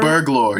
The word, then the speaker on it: Burglor: Burglor, yes. How do you spell that? Like burgle and lore as a one word. I don't know how you would do that, but like it's like Burglor.